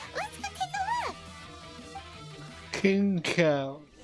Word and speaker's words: Xingqiu: King Cow. That's how you pronounce it. I've been calling him like King Q or something.